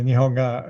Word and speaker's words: nihonga: term uh which is nihonga uh but do you please con correct my um pronunciation uh uh no you pronounced it perfectly nihonga is japanese style paintings